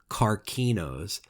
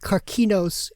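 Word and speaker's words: καρκίνος: Though since there was no soft C sound in Greek, that probably would have been pronounced carcinos and carcinoma.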